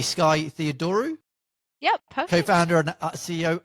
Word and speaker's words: Theodorou: innovation in SME, and hopefully I'm going to pronounce this correctly, Skye Theodorou.